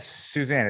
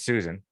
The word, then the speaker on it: Susan: Not Suzanne, it's Susan. Susan.